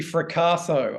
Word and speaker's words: Ficasso: Is it Driving Stevie Ficasso? I probably should have titled it differently, shouldn't I? That is a tricky one. Rhymes with Picasso.